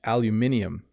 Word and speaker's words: aluminium: In the UK, they say aluminium.